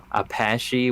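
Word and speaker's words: Apashe: know that's dope uh mine is majesty by apache which is not spelled like the indigenous tribe it's a-p-a-s-h-e yeah i've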